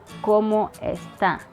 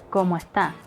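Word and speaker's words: cómo está: accent has this feature people from the western region of cuba tend to replace the sound s when it comes before a t or at the end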